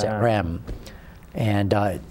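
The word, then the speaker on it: Reims: it's uh spelled re but it's the French pronounce it REM and uh it's it's abandoned it's it's like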